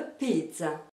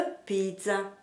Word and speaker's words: pizza: Tiens, vous remarquez qu'en français, je bouge sur la syllabe za. Et c'est pourquoi dans la scène, le geste continue de marquer l'accentuation. A pizza.